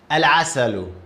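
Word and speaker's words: العسل: And you're gonna pronounce lam here. This word. Al-asalu. This is how we pronounce it.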